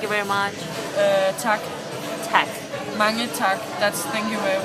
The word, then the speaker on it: mange: Okay, listen how it's M-A-N-G-E. Marine. Mange. Marine. It sounds like French. It's not, trust me. It sounds like Mange.